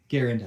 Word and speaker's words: Garand: And to jump on another side tangent, I do actually recognize the pronunciation Garand. Not because it's right, but because it's so commonplace, widely accepted, and has been for so long.